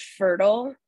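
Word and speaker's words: Pherdal: of infertility um so I called our product fertile um because I was labeled infertile but it's spelled with a PhD thank you um p-h-e-r-d-a-l and um I launched our proof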